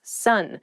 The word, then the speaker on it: son: male child is someone's son sun s-o-n is pronounced exactly the same as s-u-n sun what are you talking